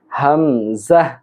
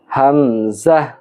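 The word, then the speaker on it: همزة: এই অক্ষরটির নাম হল হামজাহ। হামজাহ। হামজাহ।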